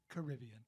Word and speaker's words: Caribbean: She goes, "It's Caribbean." Right. Yeah. Right. Thanks, Grandma, mate. Right. I thought it was Caribbean until the Disney movie came out.